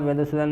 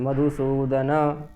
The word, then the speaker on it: मधुसूदन: हेतो होकन मही कृते यहां मधुसूदन में ना पूरा बोलना है मधुसूदन ठीक तान हंतु मिच्छामि